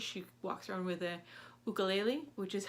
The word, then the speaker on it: ukulele: She walks around with a ukulele, which is how you actually pronounce it, I found out.